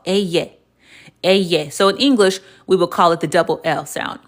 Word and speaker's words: ll: But in Spanish, it is pronounced eye.